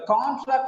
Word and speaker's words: contract: Just because of the stress is on track, the first syllable becomes weak in the second example. In the if it is verb, con becomes contract, because the stress is on second syllable.